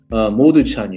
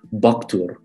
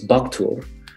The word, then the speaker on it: Modu: before module or well his name is not actually modu it's again you know the original old chinese uh pronunciation was something close to baktur so that's which is of course because the m used to be a b right so um